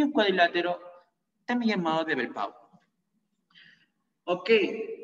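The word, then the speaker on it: Velpeau: Luego tenemos el cuadrilátero homotricipital, o también llamado muy frecuentemente cuadrilátero de Belpeau, o Balpeau, como se pronuncie, Belpeau.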